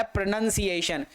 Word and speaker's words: pronunciation: फिर आया प्रोनंसिएशन, प्रोनंसिएशन, PRO, प्रेनन, NUN, प्रेनन।